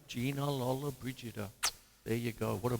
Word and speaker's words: Lollobrigida: know confusion uh so say her name Gina Lola Brigida there you go what a beautiful woman and